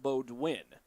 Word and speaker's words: Baudouin: As Harkness gets to the ball, sends it toward the middle to Bodwin. My apologies, got tied up on her last name. It's spelled as if it was Baudouin, but it's pronounced Bodwin.